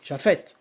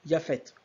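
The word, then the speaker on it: Japhet: ok en sachant que le J va être considéré comme un y ok pour ceux qui savent pas en é occidentale on dit pas Jafet on dit y fet donc le J ég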